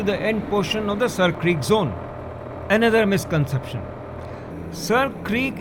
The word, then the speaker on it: Sir Creek: This water channel had joint ownership on both sides, that is Seer Creek, or now over the years pronounced as Sir Creek.